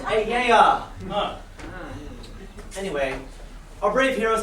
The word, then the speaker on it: Aeaea: It's pronounced Ayaya.